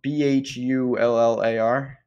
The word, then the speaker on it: Bhullar: tour and what God what does mean uh BH ull AR okay yeah I've seen them like yeah he's done something not that he's a great player but he's don't like that pronounced Bueller man well Paris you know how it is